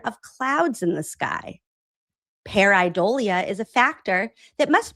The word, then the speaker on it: pareidolia: a misinterpretation consistent with the human condition termed pareidolia." I watched a YouTube video about how to pronounce it.